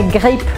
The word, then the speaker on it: grippe: Gripe é grippe, muito parecida a palavra, é só a pronúncia que vai mudar.